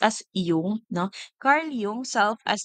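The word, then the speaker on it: Jung: agentic sevent is Carl yung it is Actually pronounced as yung no Carl yung self as the central archetype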